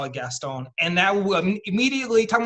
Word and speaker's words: Gaston: everyone's watched Beauty, it's actually supposed to be pronounced Gaston, right?